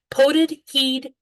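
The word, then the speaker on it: potted heid: It's pronounced in Scottish Doric, from the part of Scotland my family is from, potted heed maker.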